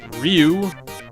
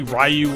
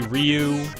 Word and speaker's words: Ryu: kid nowadays I say Ryu but a lot of people say it's Rue I don't know why they say it's Rue clearly there's a y in there so you should probably pronounce it at least if you're